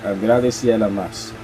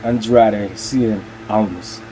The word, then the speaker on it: Andrade Cien Almas: which is the correct, which is the correct pronunciation in Spanish of how you say it. Andrade Cien Almas, not Andrade Cien Almas.